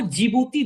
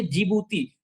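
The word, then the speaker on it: Djibouti: Yemen के अलावा आप जब नीचे देखेंगे तो आपको जिबूती दिखेगा। जस्ट देखिए नीचे जिबूती, वो जिबूती की स्पेलिंग डी से शुरू होती है, DGJI, तो हाँ, हाँ। वही है जो डी से है, वो जिबूती है।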